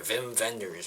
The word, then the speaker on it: Wim Wenders: last too oo both Wim Wenders films or Vim venders I say his name first up the American